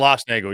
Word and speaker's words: Schlossnagle: Jim Schlossnagle, correct? Schlossnagle, yeah.